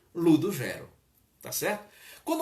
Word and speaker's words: Ludugero: Como era um personagem matuto, então ele estendeu um pouco mais essa pronúncia do U depois do G, aliás, depois do D, e ficou Ludogero, tá certo?